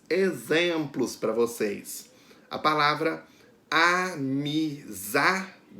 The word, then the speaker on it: amizade: A palavra amizade. A sílaba que é pronunciada com mais força é za. Amizade. Então, a sílaba tônica da palavra amizade é a za.